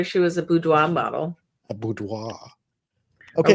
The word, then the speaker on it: boudoir: Hi guys, it's boudoir. Boudoir. Okay, see, I had the ending right. Everything else was wrong. Yep, and I've said it wrong for years.